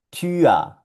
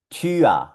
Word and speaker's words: Tür: Siempre que veas U-Umlaut con R en alemán va a sonar UA, UA. Y aquí tenemos esta palabrita. Se pronuncia Tür, Tür.